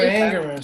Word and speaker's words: Ingerman: Am I pronouncing it correctly, Amanda? Who was it? I put No, Sandra. Sandra Engerman. Sandra Ingerman.